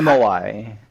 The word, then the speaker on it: MOI: It's MOI.